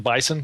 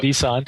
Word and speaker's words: BSON: One of the interesting aspects of how you guys store data in Mongo is, I believe this is the correct pronunciation, Bison, B-S-O-N.